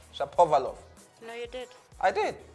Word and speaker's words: Shapovalov: Shapovalov.